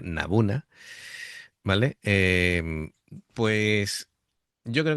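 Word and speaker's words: n-buna: Eh, claro, está este que quiero decirlo bien porque me ha dado incluso Luca la indicación de cómo se pronuncia, Nabuna.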